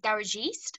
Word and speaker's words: Garajeest: name um and then i just spouted phonetically um garage east and i trademarked it